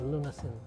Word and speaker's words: lunasin: work with lunin I pronounce it lunasin CI from the word Lunas which is talog for cure it's not by Design